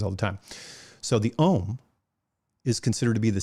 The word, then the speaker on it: Om: is a u m om we pronounce it om and we spell it o m although the original idea was aum and that word is